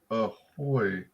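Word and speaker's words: ahoj: wait ahoy oh okay so oj is an oi sound ahoy is check for hello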